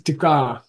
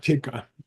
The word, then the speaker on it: tik: In Tibetan, it's often, if you need a one-syllable word for commentary, you put tik. The real word is tika. Okay. And then the typists in our organization always type it wrong. Okay. It's tik, it's not tika.